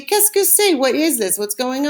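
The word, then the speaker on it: qu'est-ce que c'est: a box and it says secret you say keskusay what is this what's going on and answer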